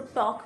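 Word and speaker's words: talk: हो जाता है और वॉक टॉक टी ए एल के होता है लेकिन उसको टॉक पढ़ते हैं एल साइलेंट होता है डब्ल्यू ए एल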